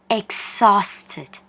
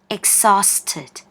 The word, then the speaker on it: exhausted: เห็น เห มั้ย คะ H นะ คะ ไม่ ออก เสียง นะ คะ อ่าน ว่า exhausted exhausted แปล ว่า เหนื่อย มาก